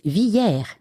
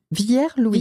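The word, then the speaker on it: Villiers-Louis: Alors, c'est Villier Louis. Ça s'écrit Villier Louis mais les gens du cru disent Viller. Vier Louis. Vill Louis.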